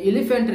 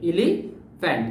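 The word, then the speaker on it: elephant: এলিফ্যান্টের বানান তোমরা স্ক্রিনে দেখতে পাচ্ছ নিশ্চয়ই এই এলিফ্যান্টের এখানে পিএইচ পিএইচ কিন্তু যদি আমরা কোন ইংলিশ ওয়ার্ডে যদি পি এইচ পাই এটার উচ্চারণ কিন্তু এফ এর মত হয়ে যায় পি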